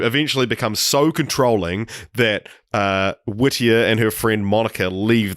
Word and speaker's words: Whittier: time I was called Whittier so weird yeah that's not a name so Whittier it kind of rhymes with like Lydia but it's not spelt